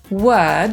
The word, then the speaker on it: word: Po brytyjsku „słowo” to „word” /wɜːd/, a po amerykańsku /wɜ:rd/. Ta samogłoska w brytyjskiej wersji tej wymowy to coś pomiędzy polskim „y” a „e”.